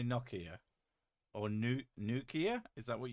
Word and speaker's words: Nokia: In America, we do say Nokia with a long O. I've heard Nokia, but it's not. It's Nokia. That's what it's. I'm pretty sure that's like the pronunciation.